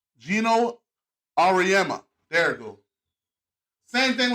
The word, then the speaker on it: Auriemma: Same thing with Gino how do you pronounce his name? Gino Auriemma.